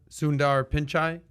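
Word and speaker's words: Sundar Pichai: do we say his name anyone anyone anyone sundar pinchai thank you for that kai uh our 22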